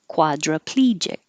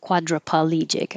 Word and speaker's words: quadriplegic: my whole life and adding some extra syllable in there it's quadriplegic not quadriplegic i don't know why